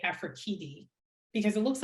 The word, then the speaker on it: Afrekete: And then I had to research how to say Afrekete because it looks like Afrekete. And I'd been saying Afrekete for 30 years or something, but it's Afrekete.